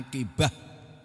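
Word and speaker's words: عاقبة: Akibat bahasa Arabnya akibatun tulisannya. membacanya akibah itu artinya kesudahan.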